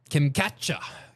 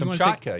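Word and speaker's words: Kamchatka: Kimatcha. Kimatcha, Russia. Jamie Kamaka. Yeah. That's the Kamaka Peninsula.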